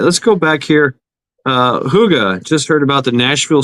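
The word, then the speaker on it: hygge: all kids involved and I I always pronounce it Hig I thought it was Hig how did you say that Huga oh man I know it's Danish uh Huga it means like a good times good good feel kind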